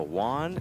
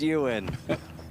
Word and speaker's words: Ewan: I was going over the pronunciations, and I'm looking at his name, and I go, Juan, and the whole table starts cracking up. And they're like, that's his nickname, but it's pronounced Ewan.